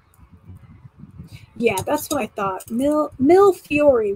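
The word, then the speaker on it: millefiori: that's what i thought mill mill fury right no the e is silent yeah i was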